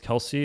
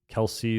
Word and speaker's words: Kelce: I think that Travis Kelce and I thought his name was Kel before cuz that's how it's spelled Travis Kel is sounds